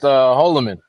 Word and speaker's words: Holloman: Yeah, it's pronounced Holloman.